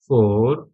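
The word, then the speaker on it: forêt: second word देखेंगे फथ फथ फथ ठीक है फर य ई एस टी ये इंग्लिश का क्या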